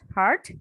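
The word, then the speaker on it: heard: তাহলে she spoke as ইফ আই হ্যাড নট হার্ড হার, এখানে হিয়ার্ড বলবো না, এটা কি উচ্চারণ কি হবে বলতো, হার্ড, ঠিক আছে, হিয়ার হার্ড হার্ড।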